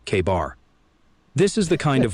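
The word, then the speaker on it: KA-BAR: And yeah, we're pronouncing that bad boy like it's written, K-bar.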